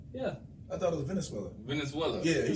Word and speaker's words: Venezuela: Okay, man, that's them Venezuela, man. They from Venezuela, man. Venezuela, okay. They're cool people, man. Venezuela? Venezuela girls, yeah. Man. I've never heard that country before. Venezuela, never heard Venezuela?